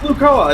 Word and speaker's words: Lucoa: of the adults i pronounced it lucoa it's probably wrong no that sounds right sounds right but you